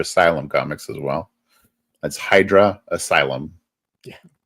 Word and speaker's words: Hydra Asylum: So I tell people it's like the easiest way to remember how to say it is Idris Elba. Hydra Cyber. Idris Elba. Hydra Elba.